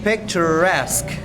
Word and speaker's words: picturesque: Another remarkable destination is Kyoto ya, where ancient temples and cherry blossoms create a picturesque landscape. Bacanya gini, picturesque landscape. Picturesque ya, picture sama picturesque gitu ya, picturesque landscape.